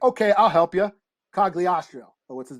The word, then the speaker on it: Cogliostro: Cogliostro.